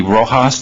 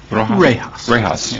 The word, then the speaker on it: rejas: The Rojas, they're called? Yes. Am I pronouncing it right? Rejas. Rejas. In this photo with the chamfered window, the color of those, it's kind of a aqua color.